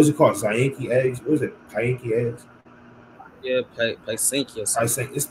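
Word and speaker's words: Pysanky: Yeah, Paisanky.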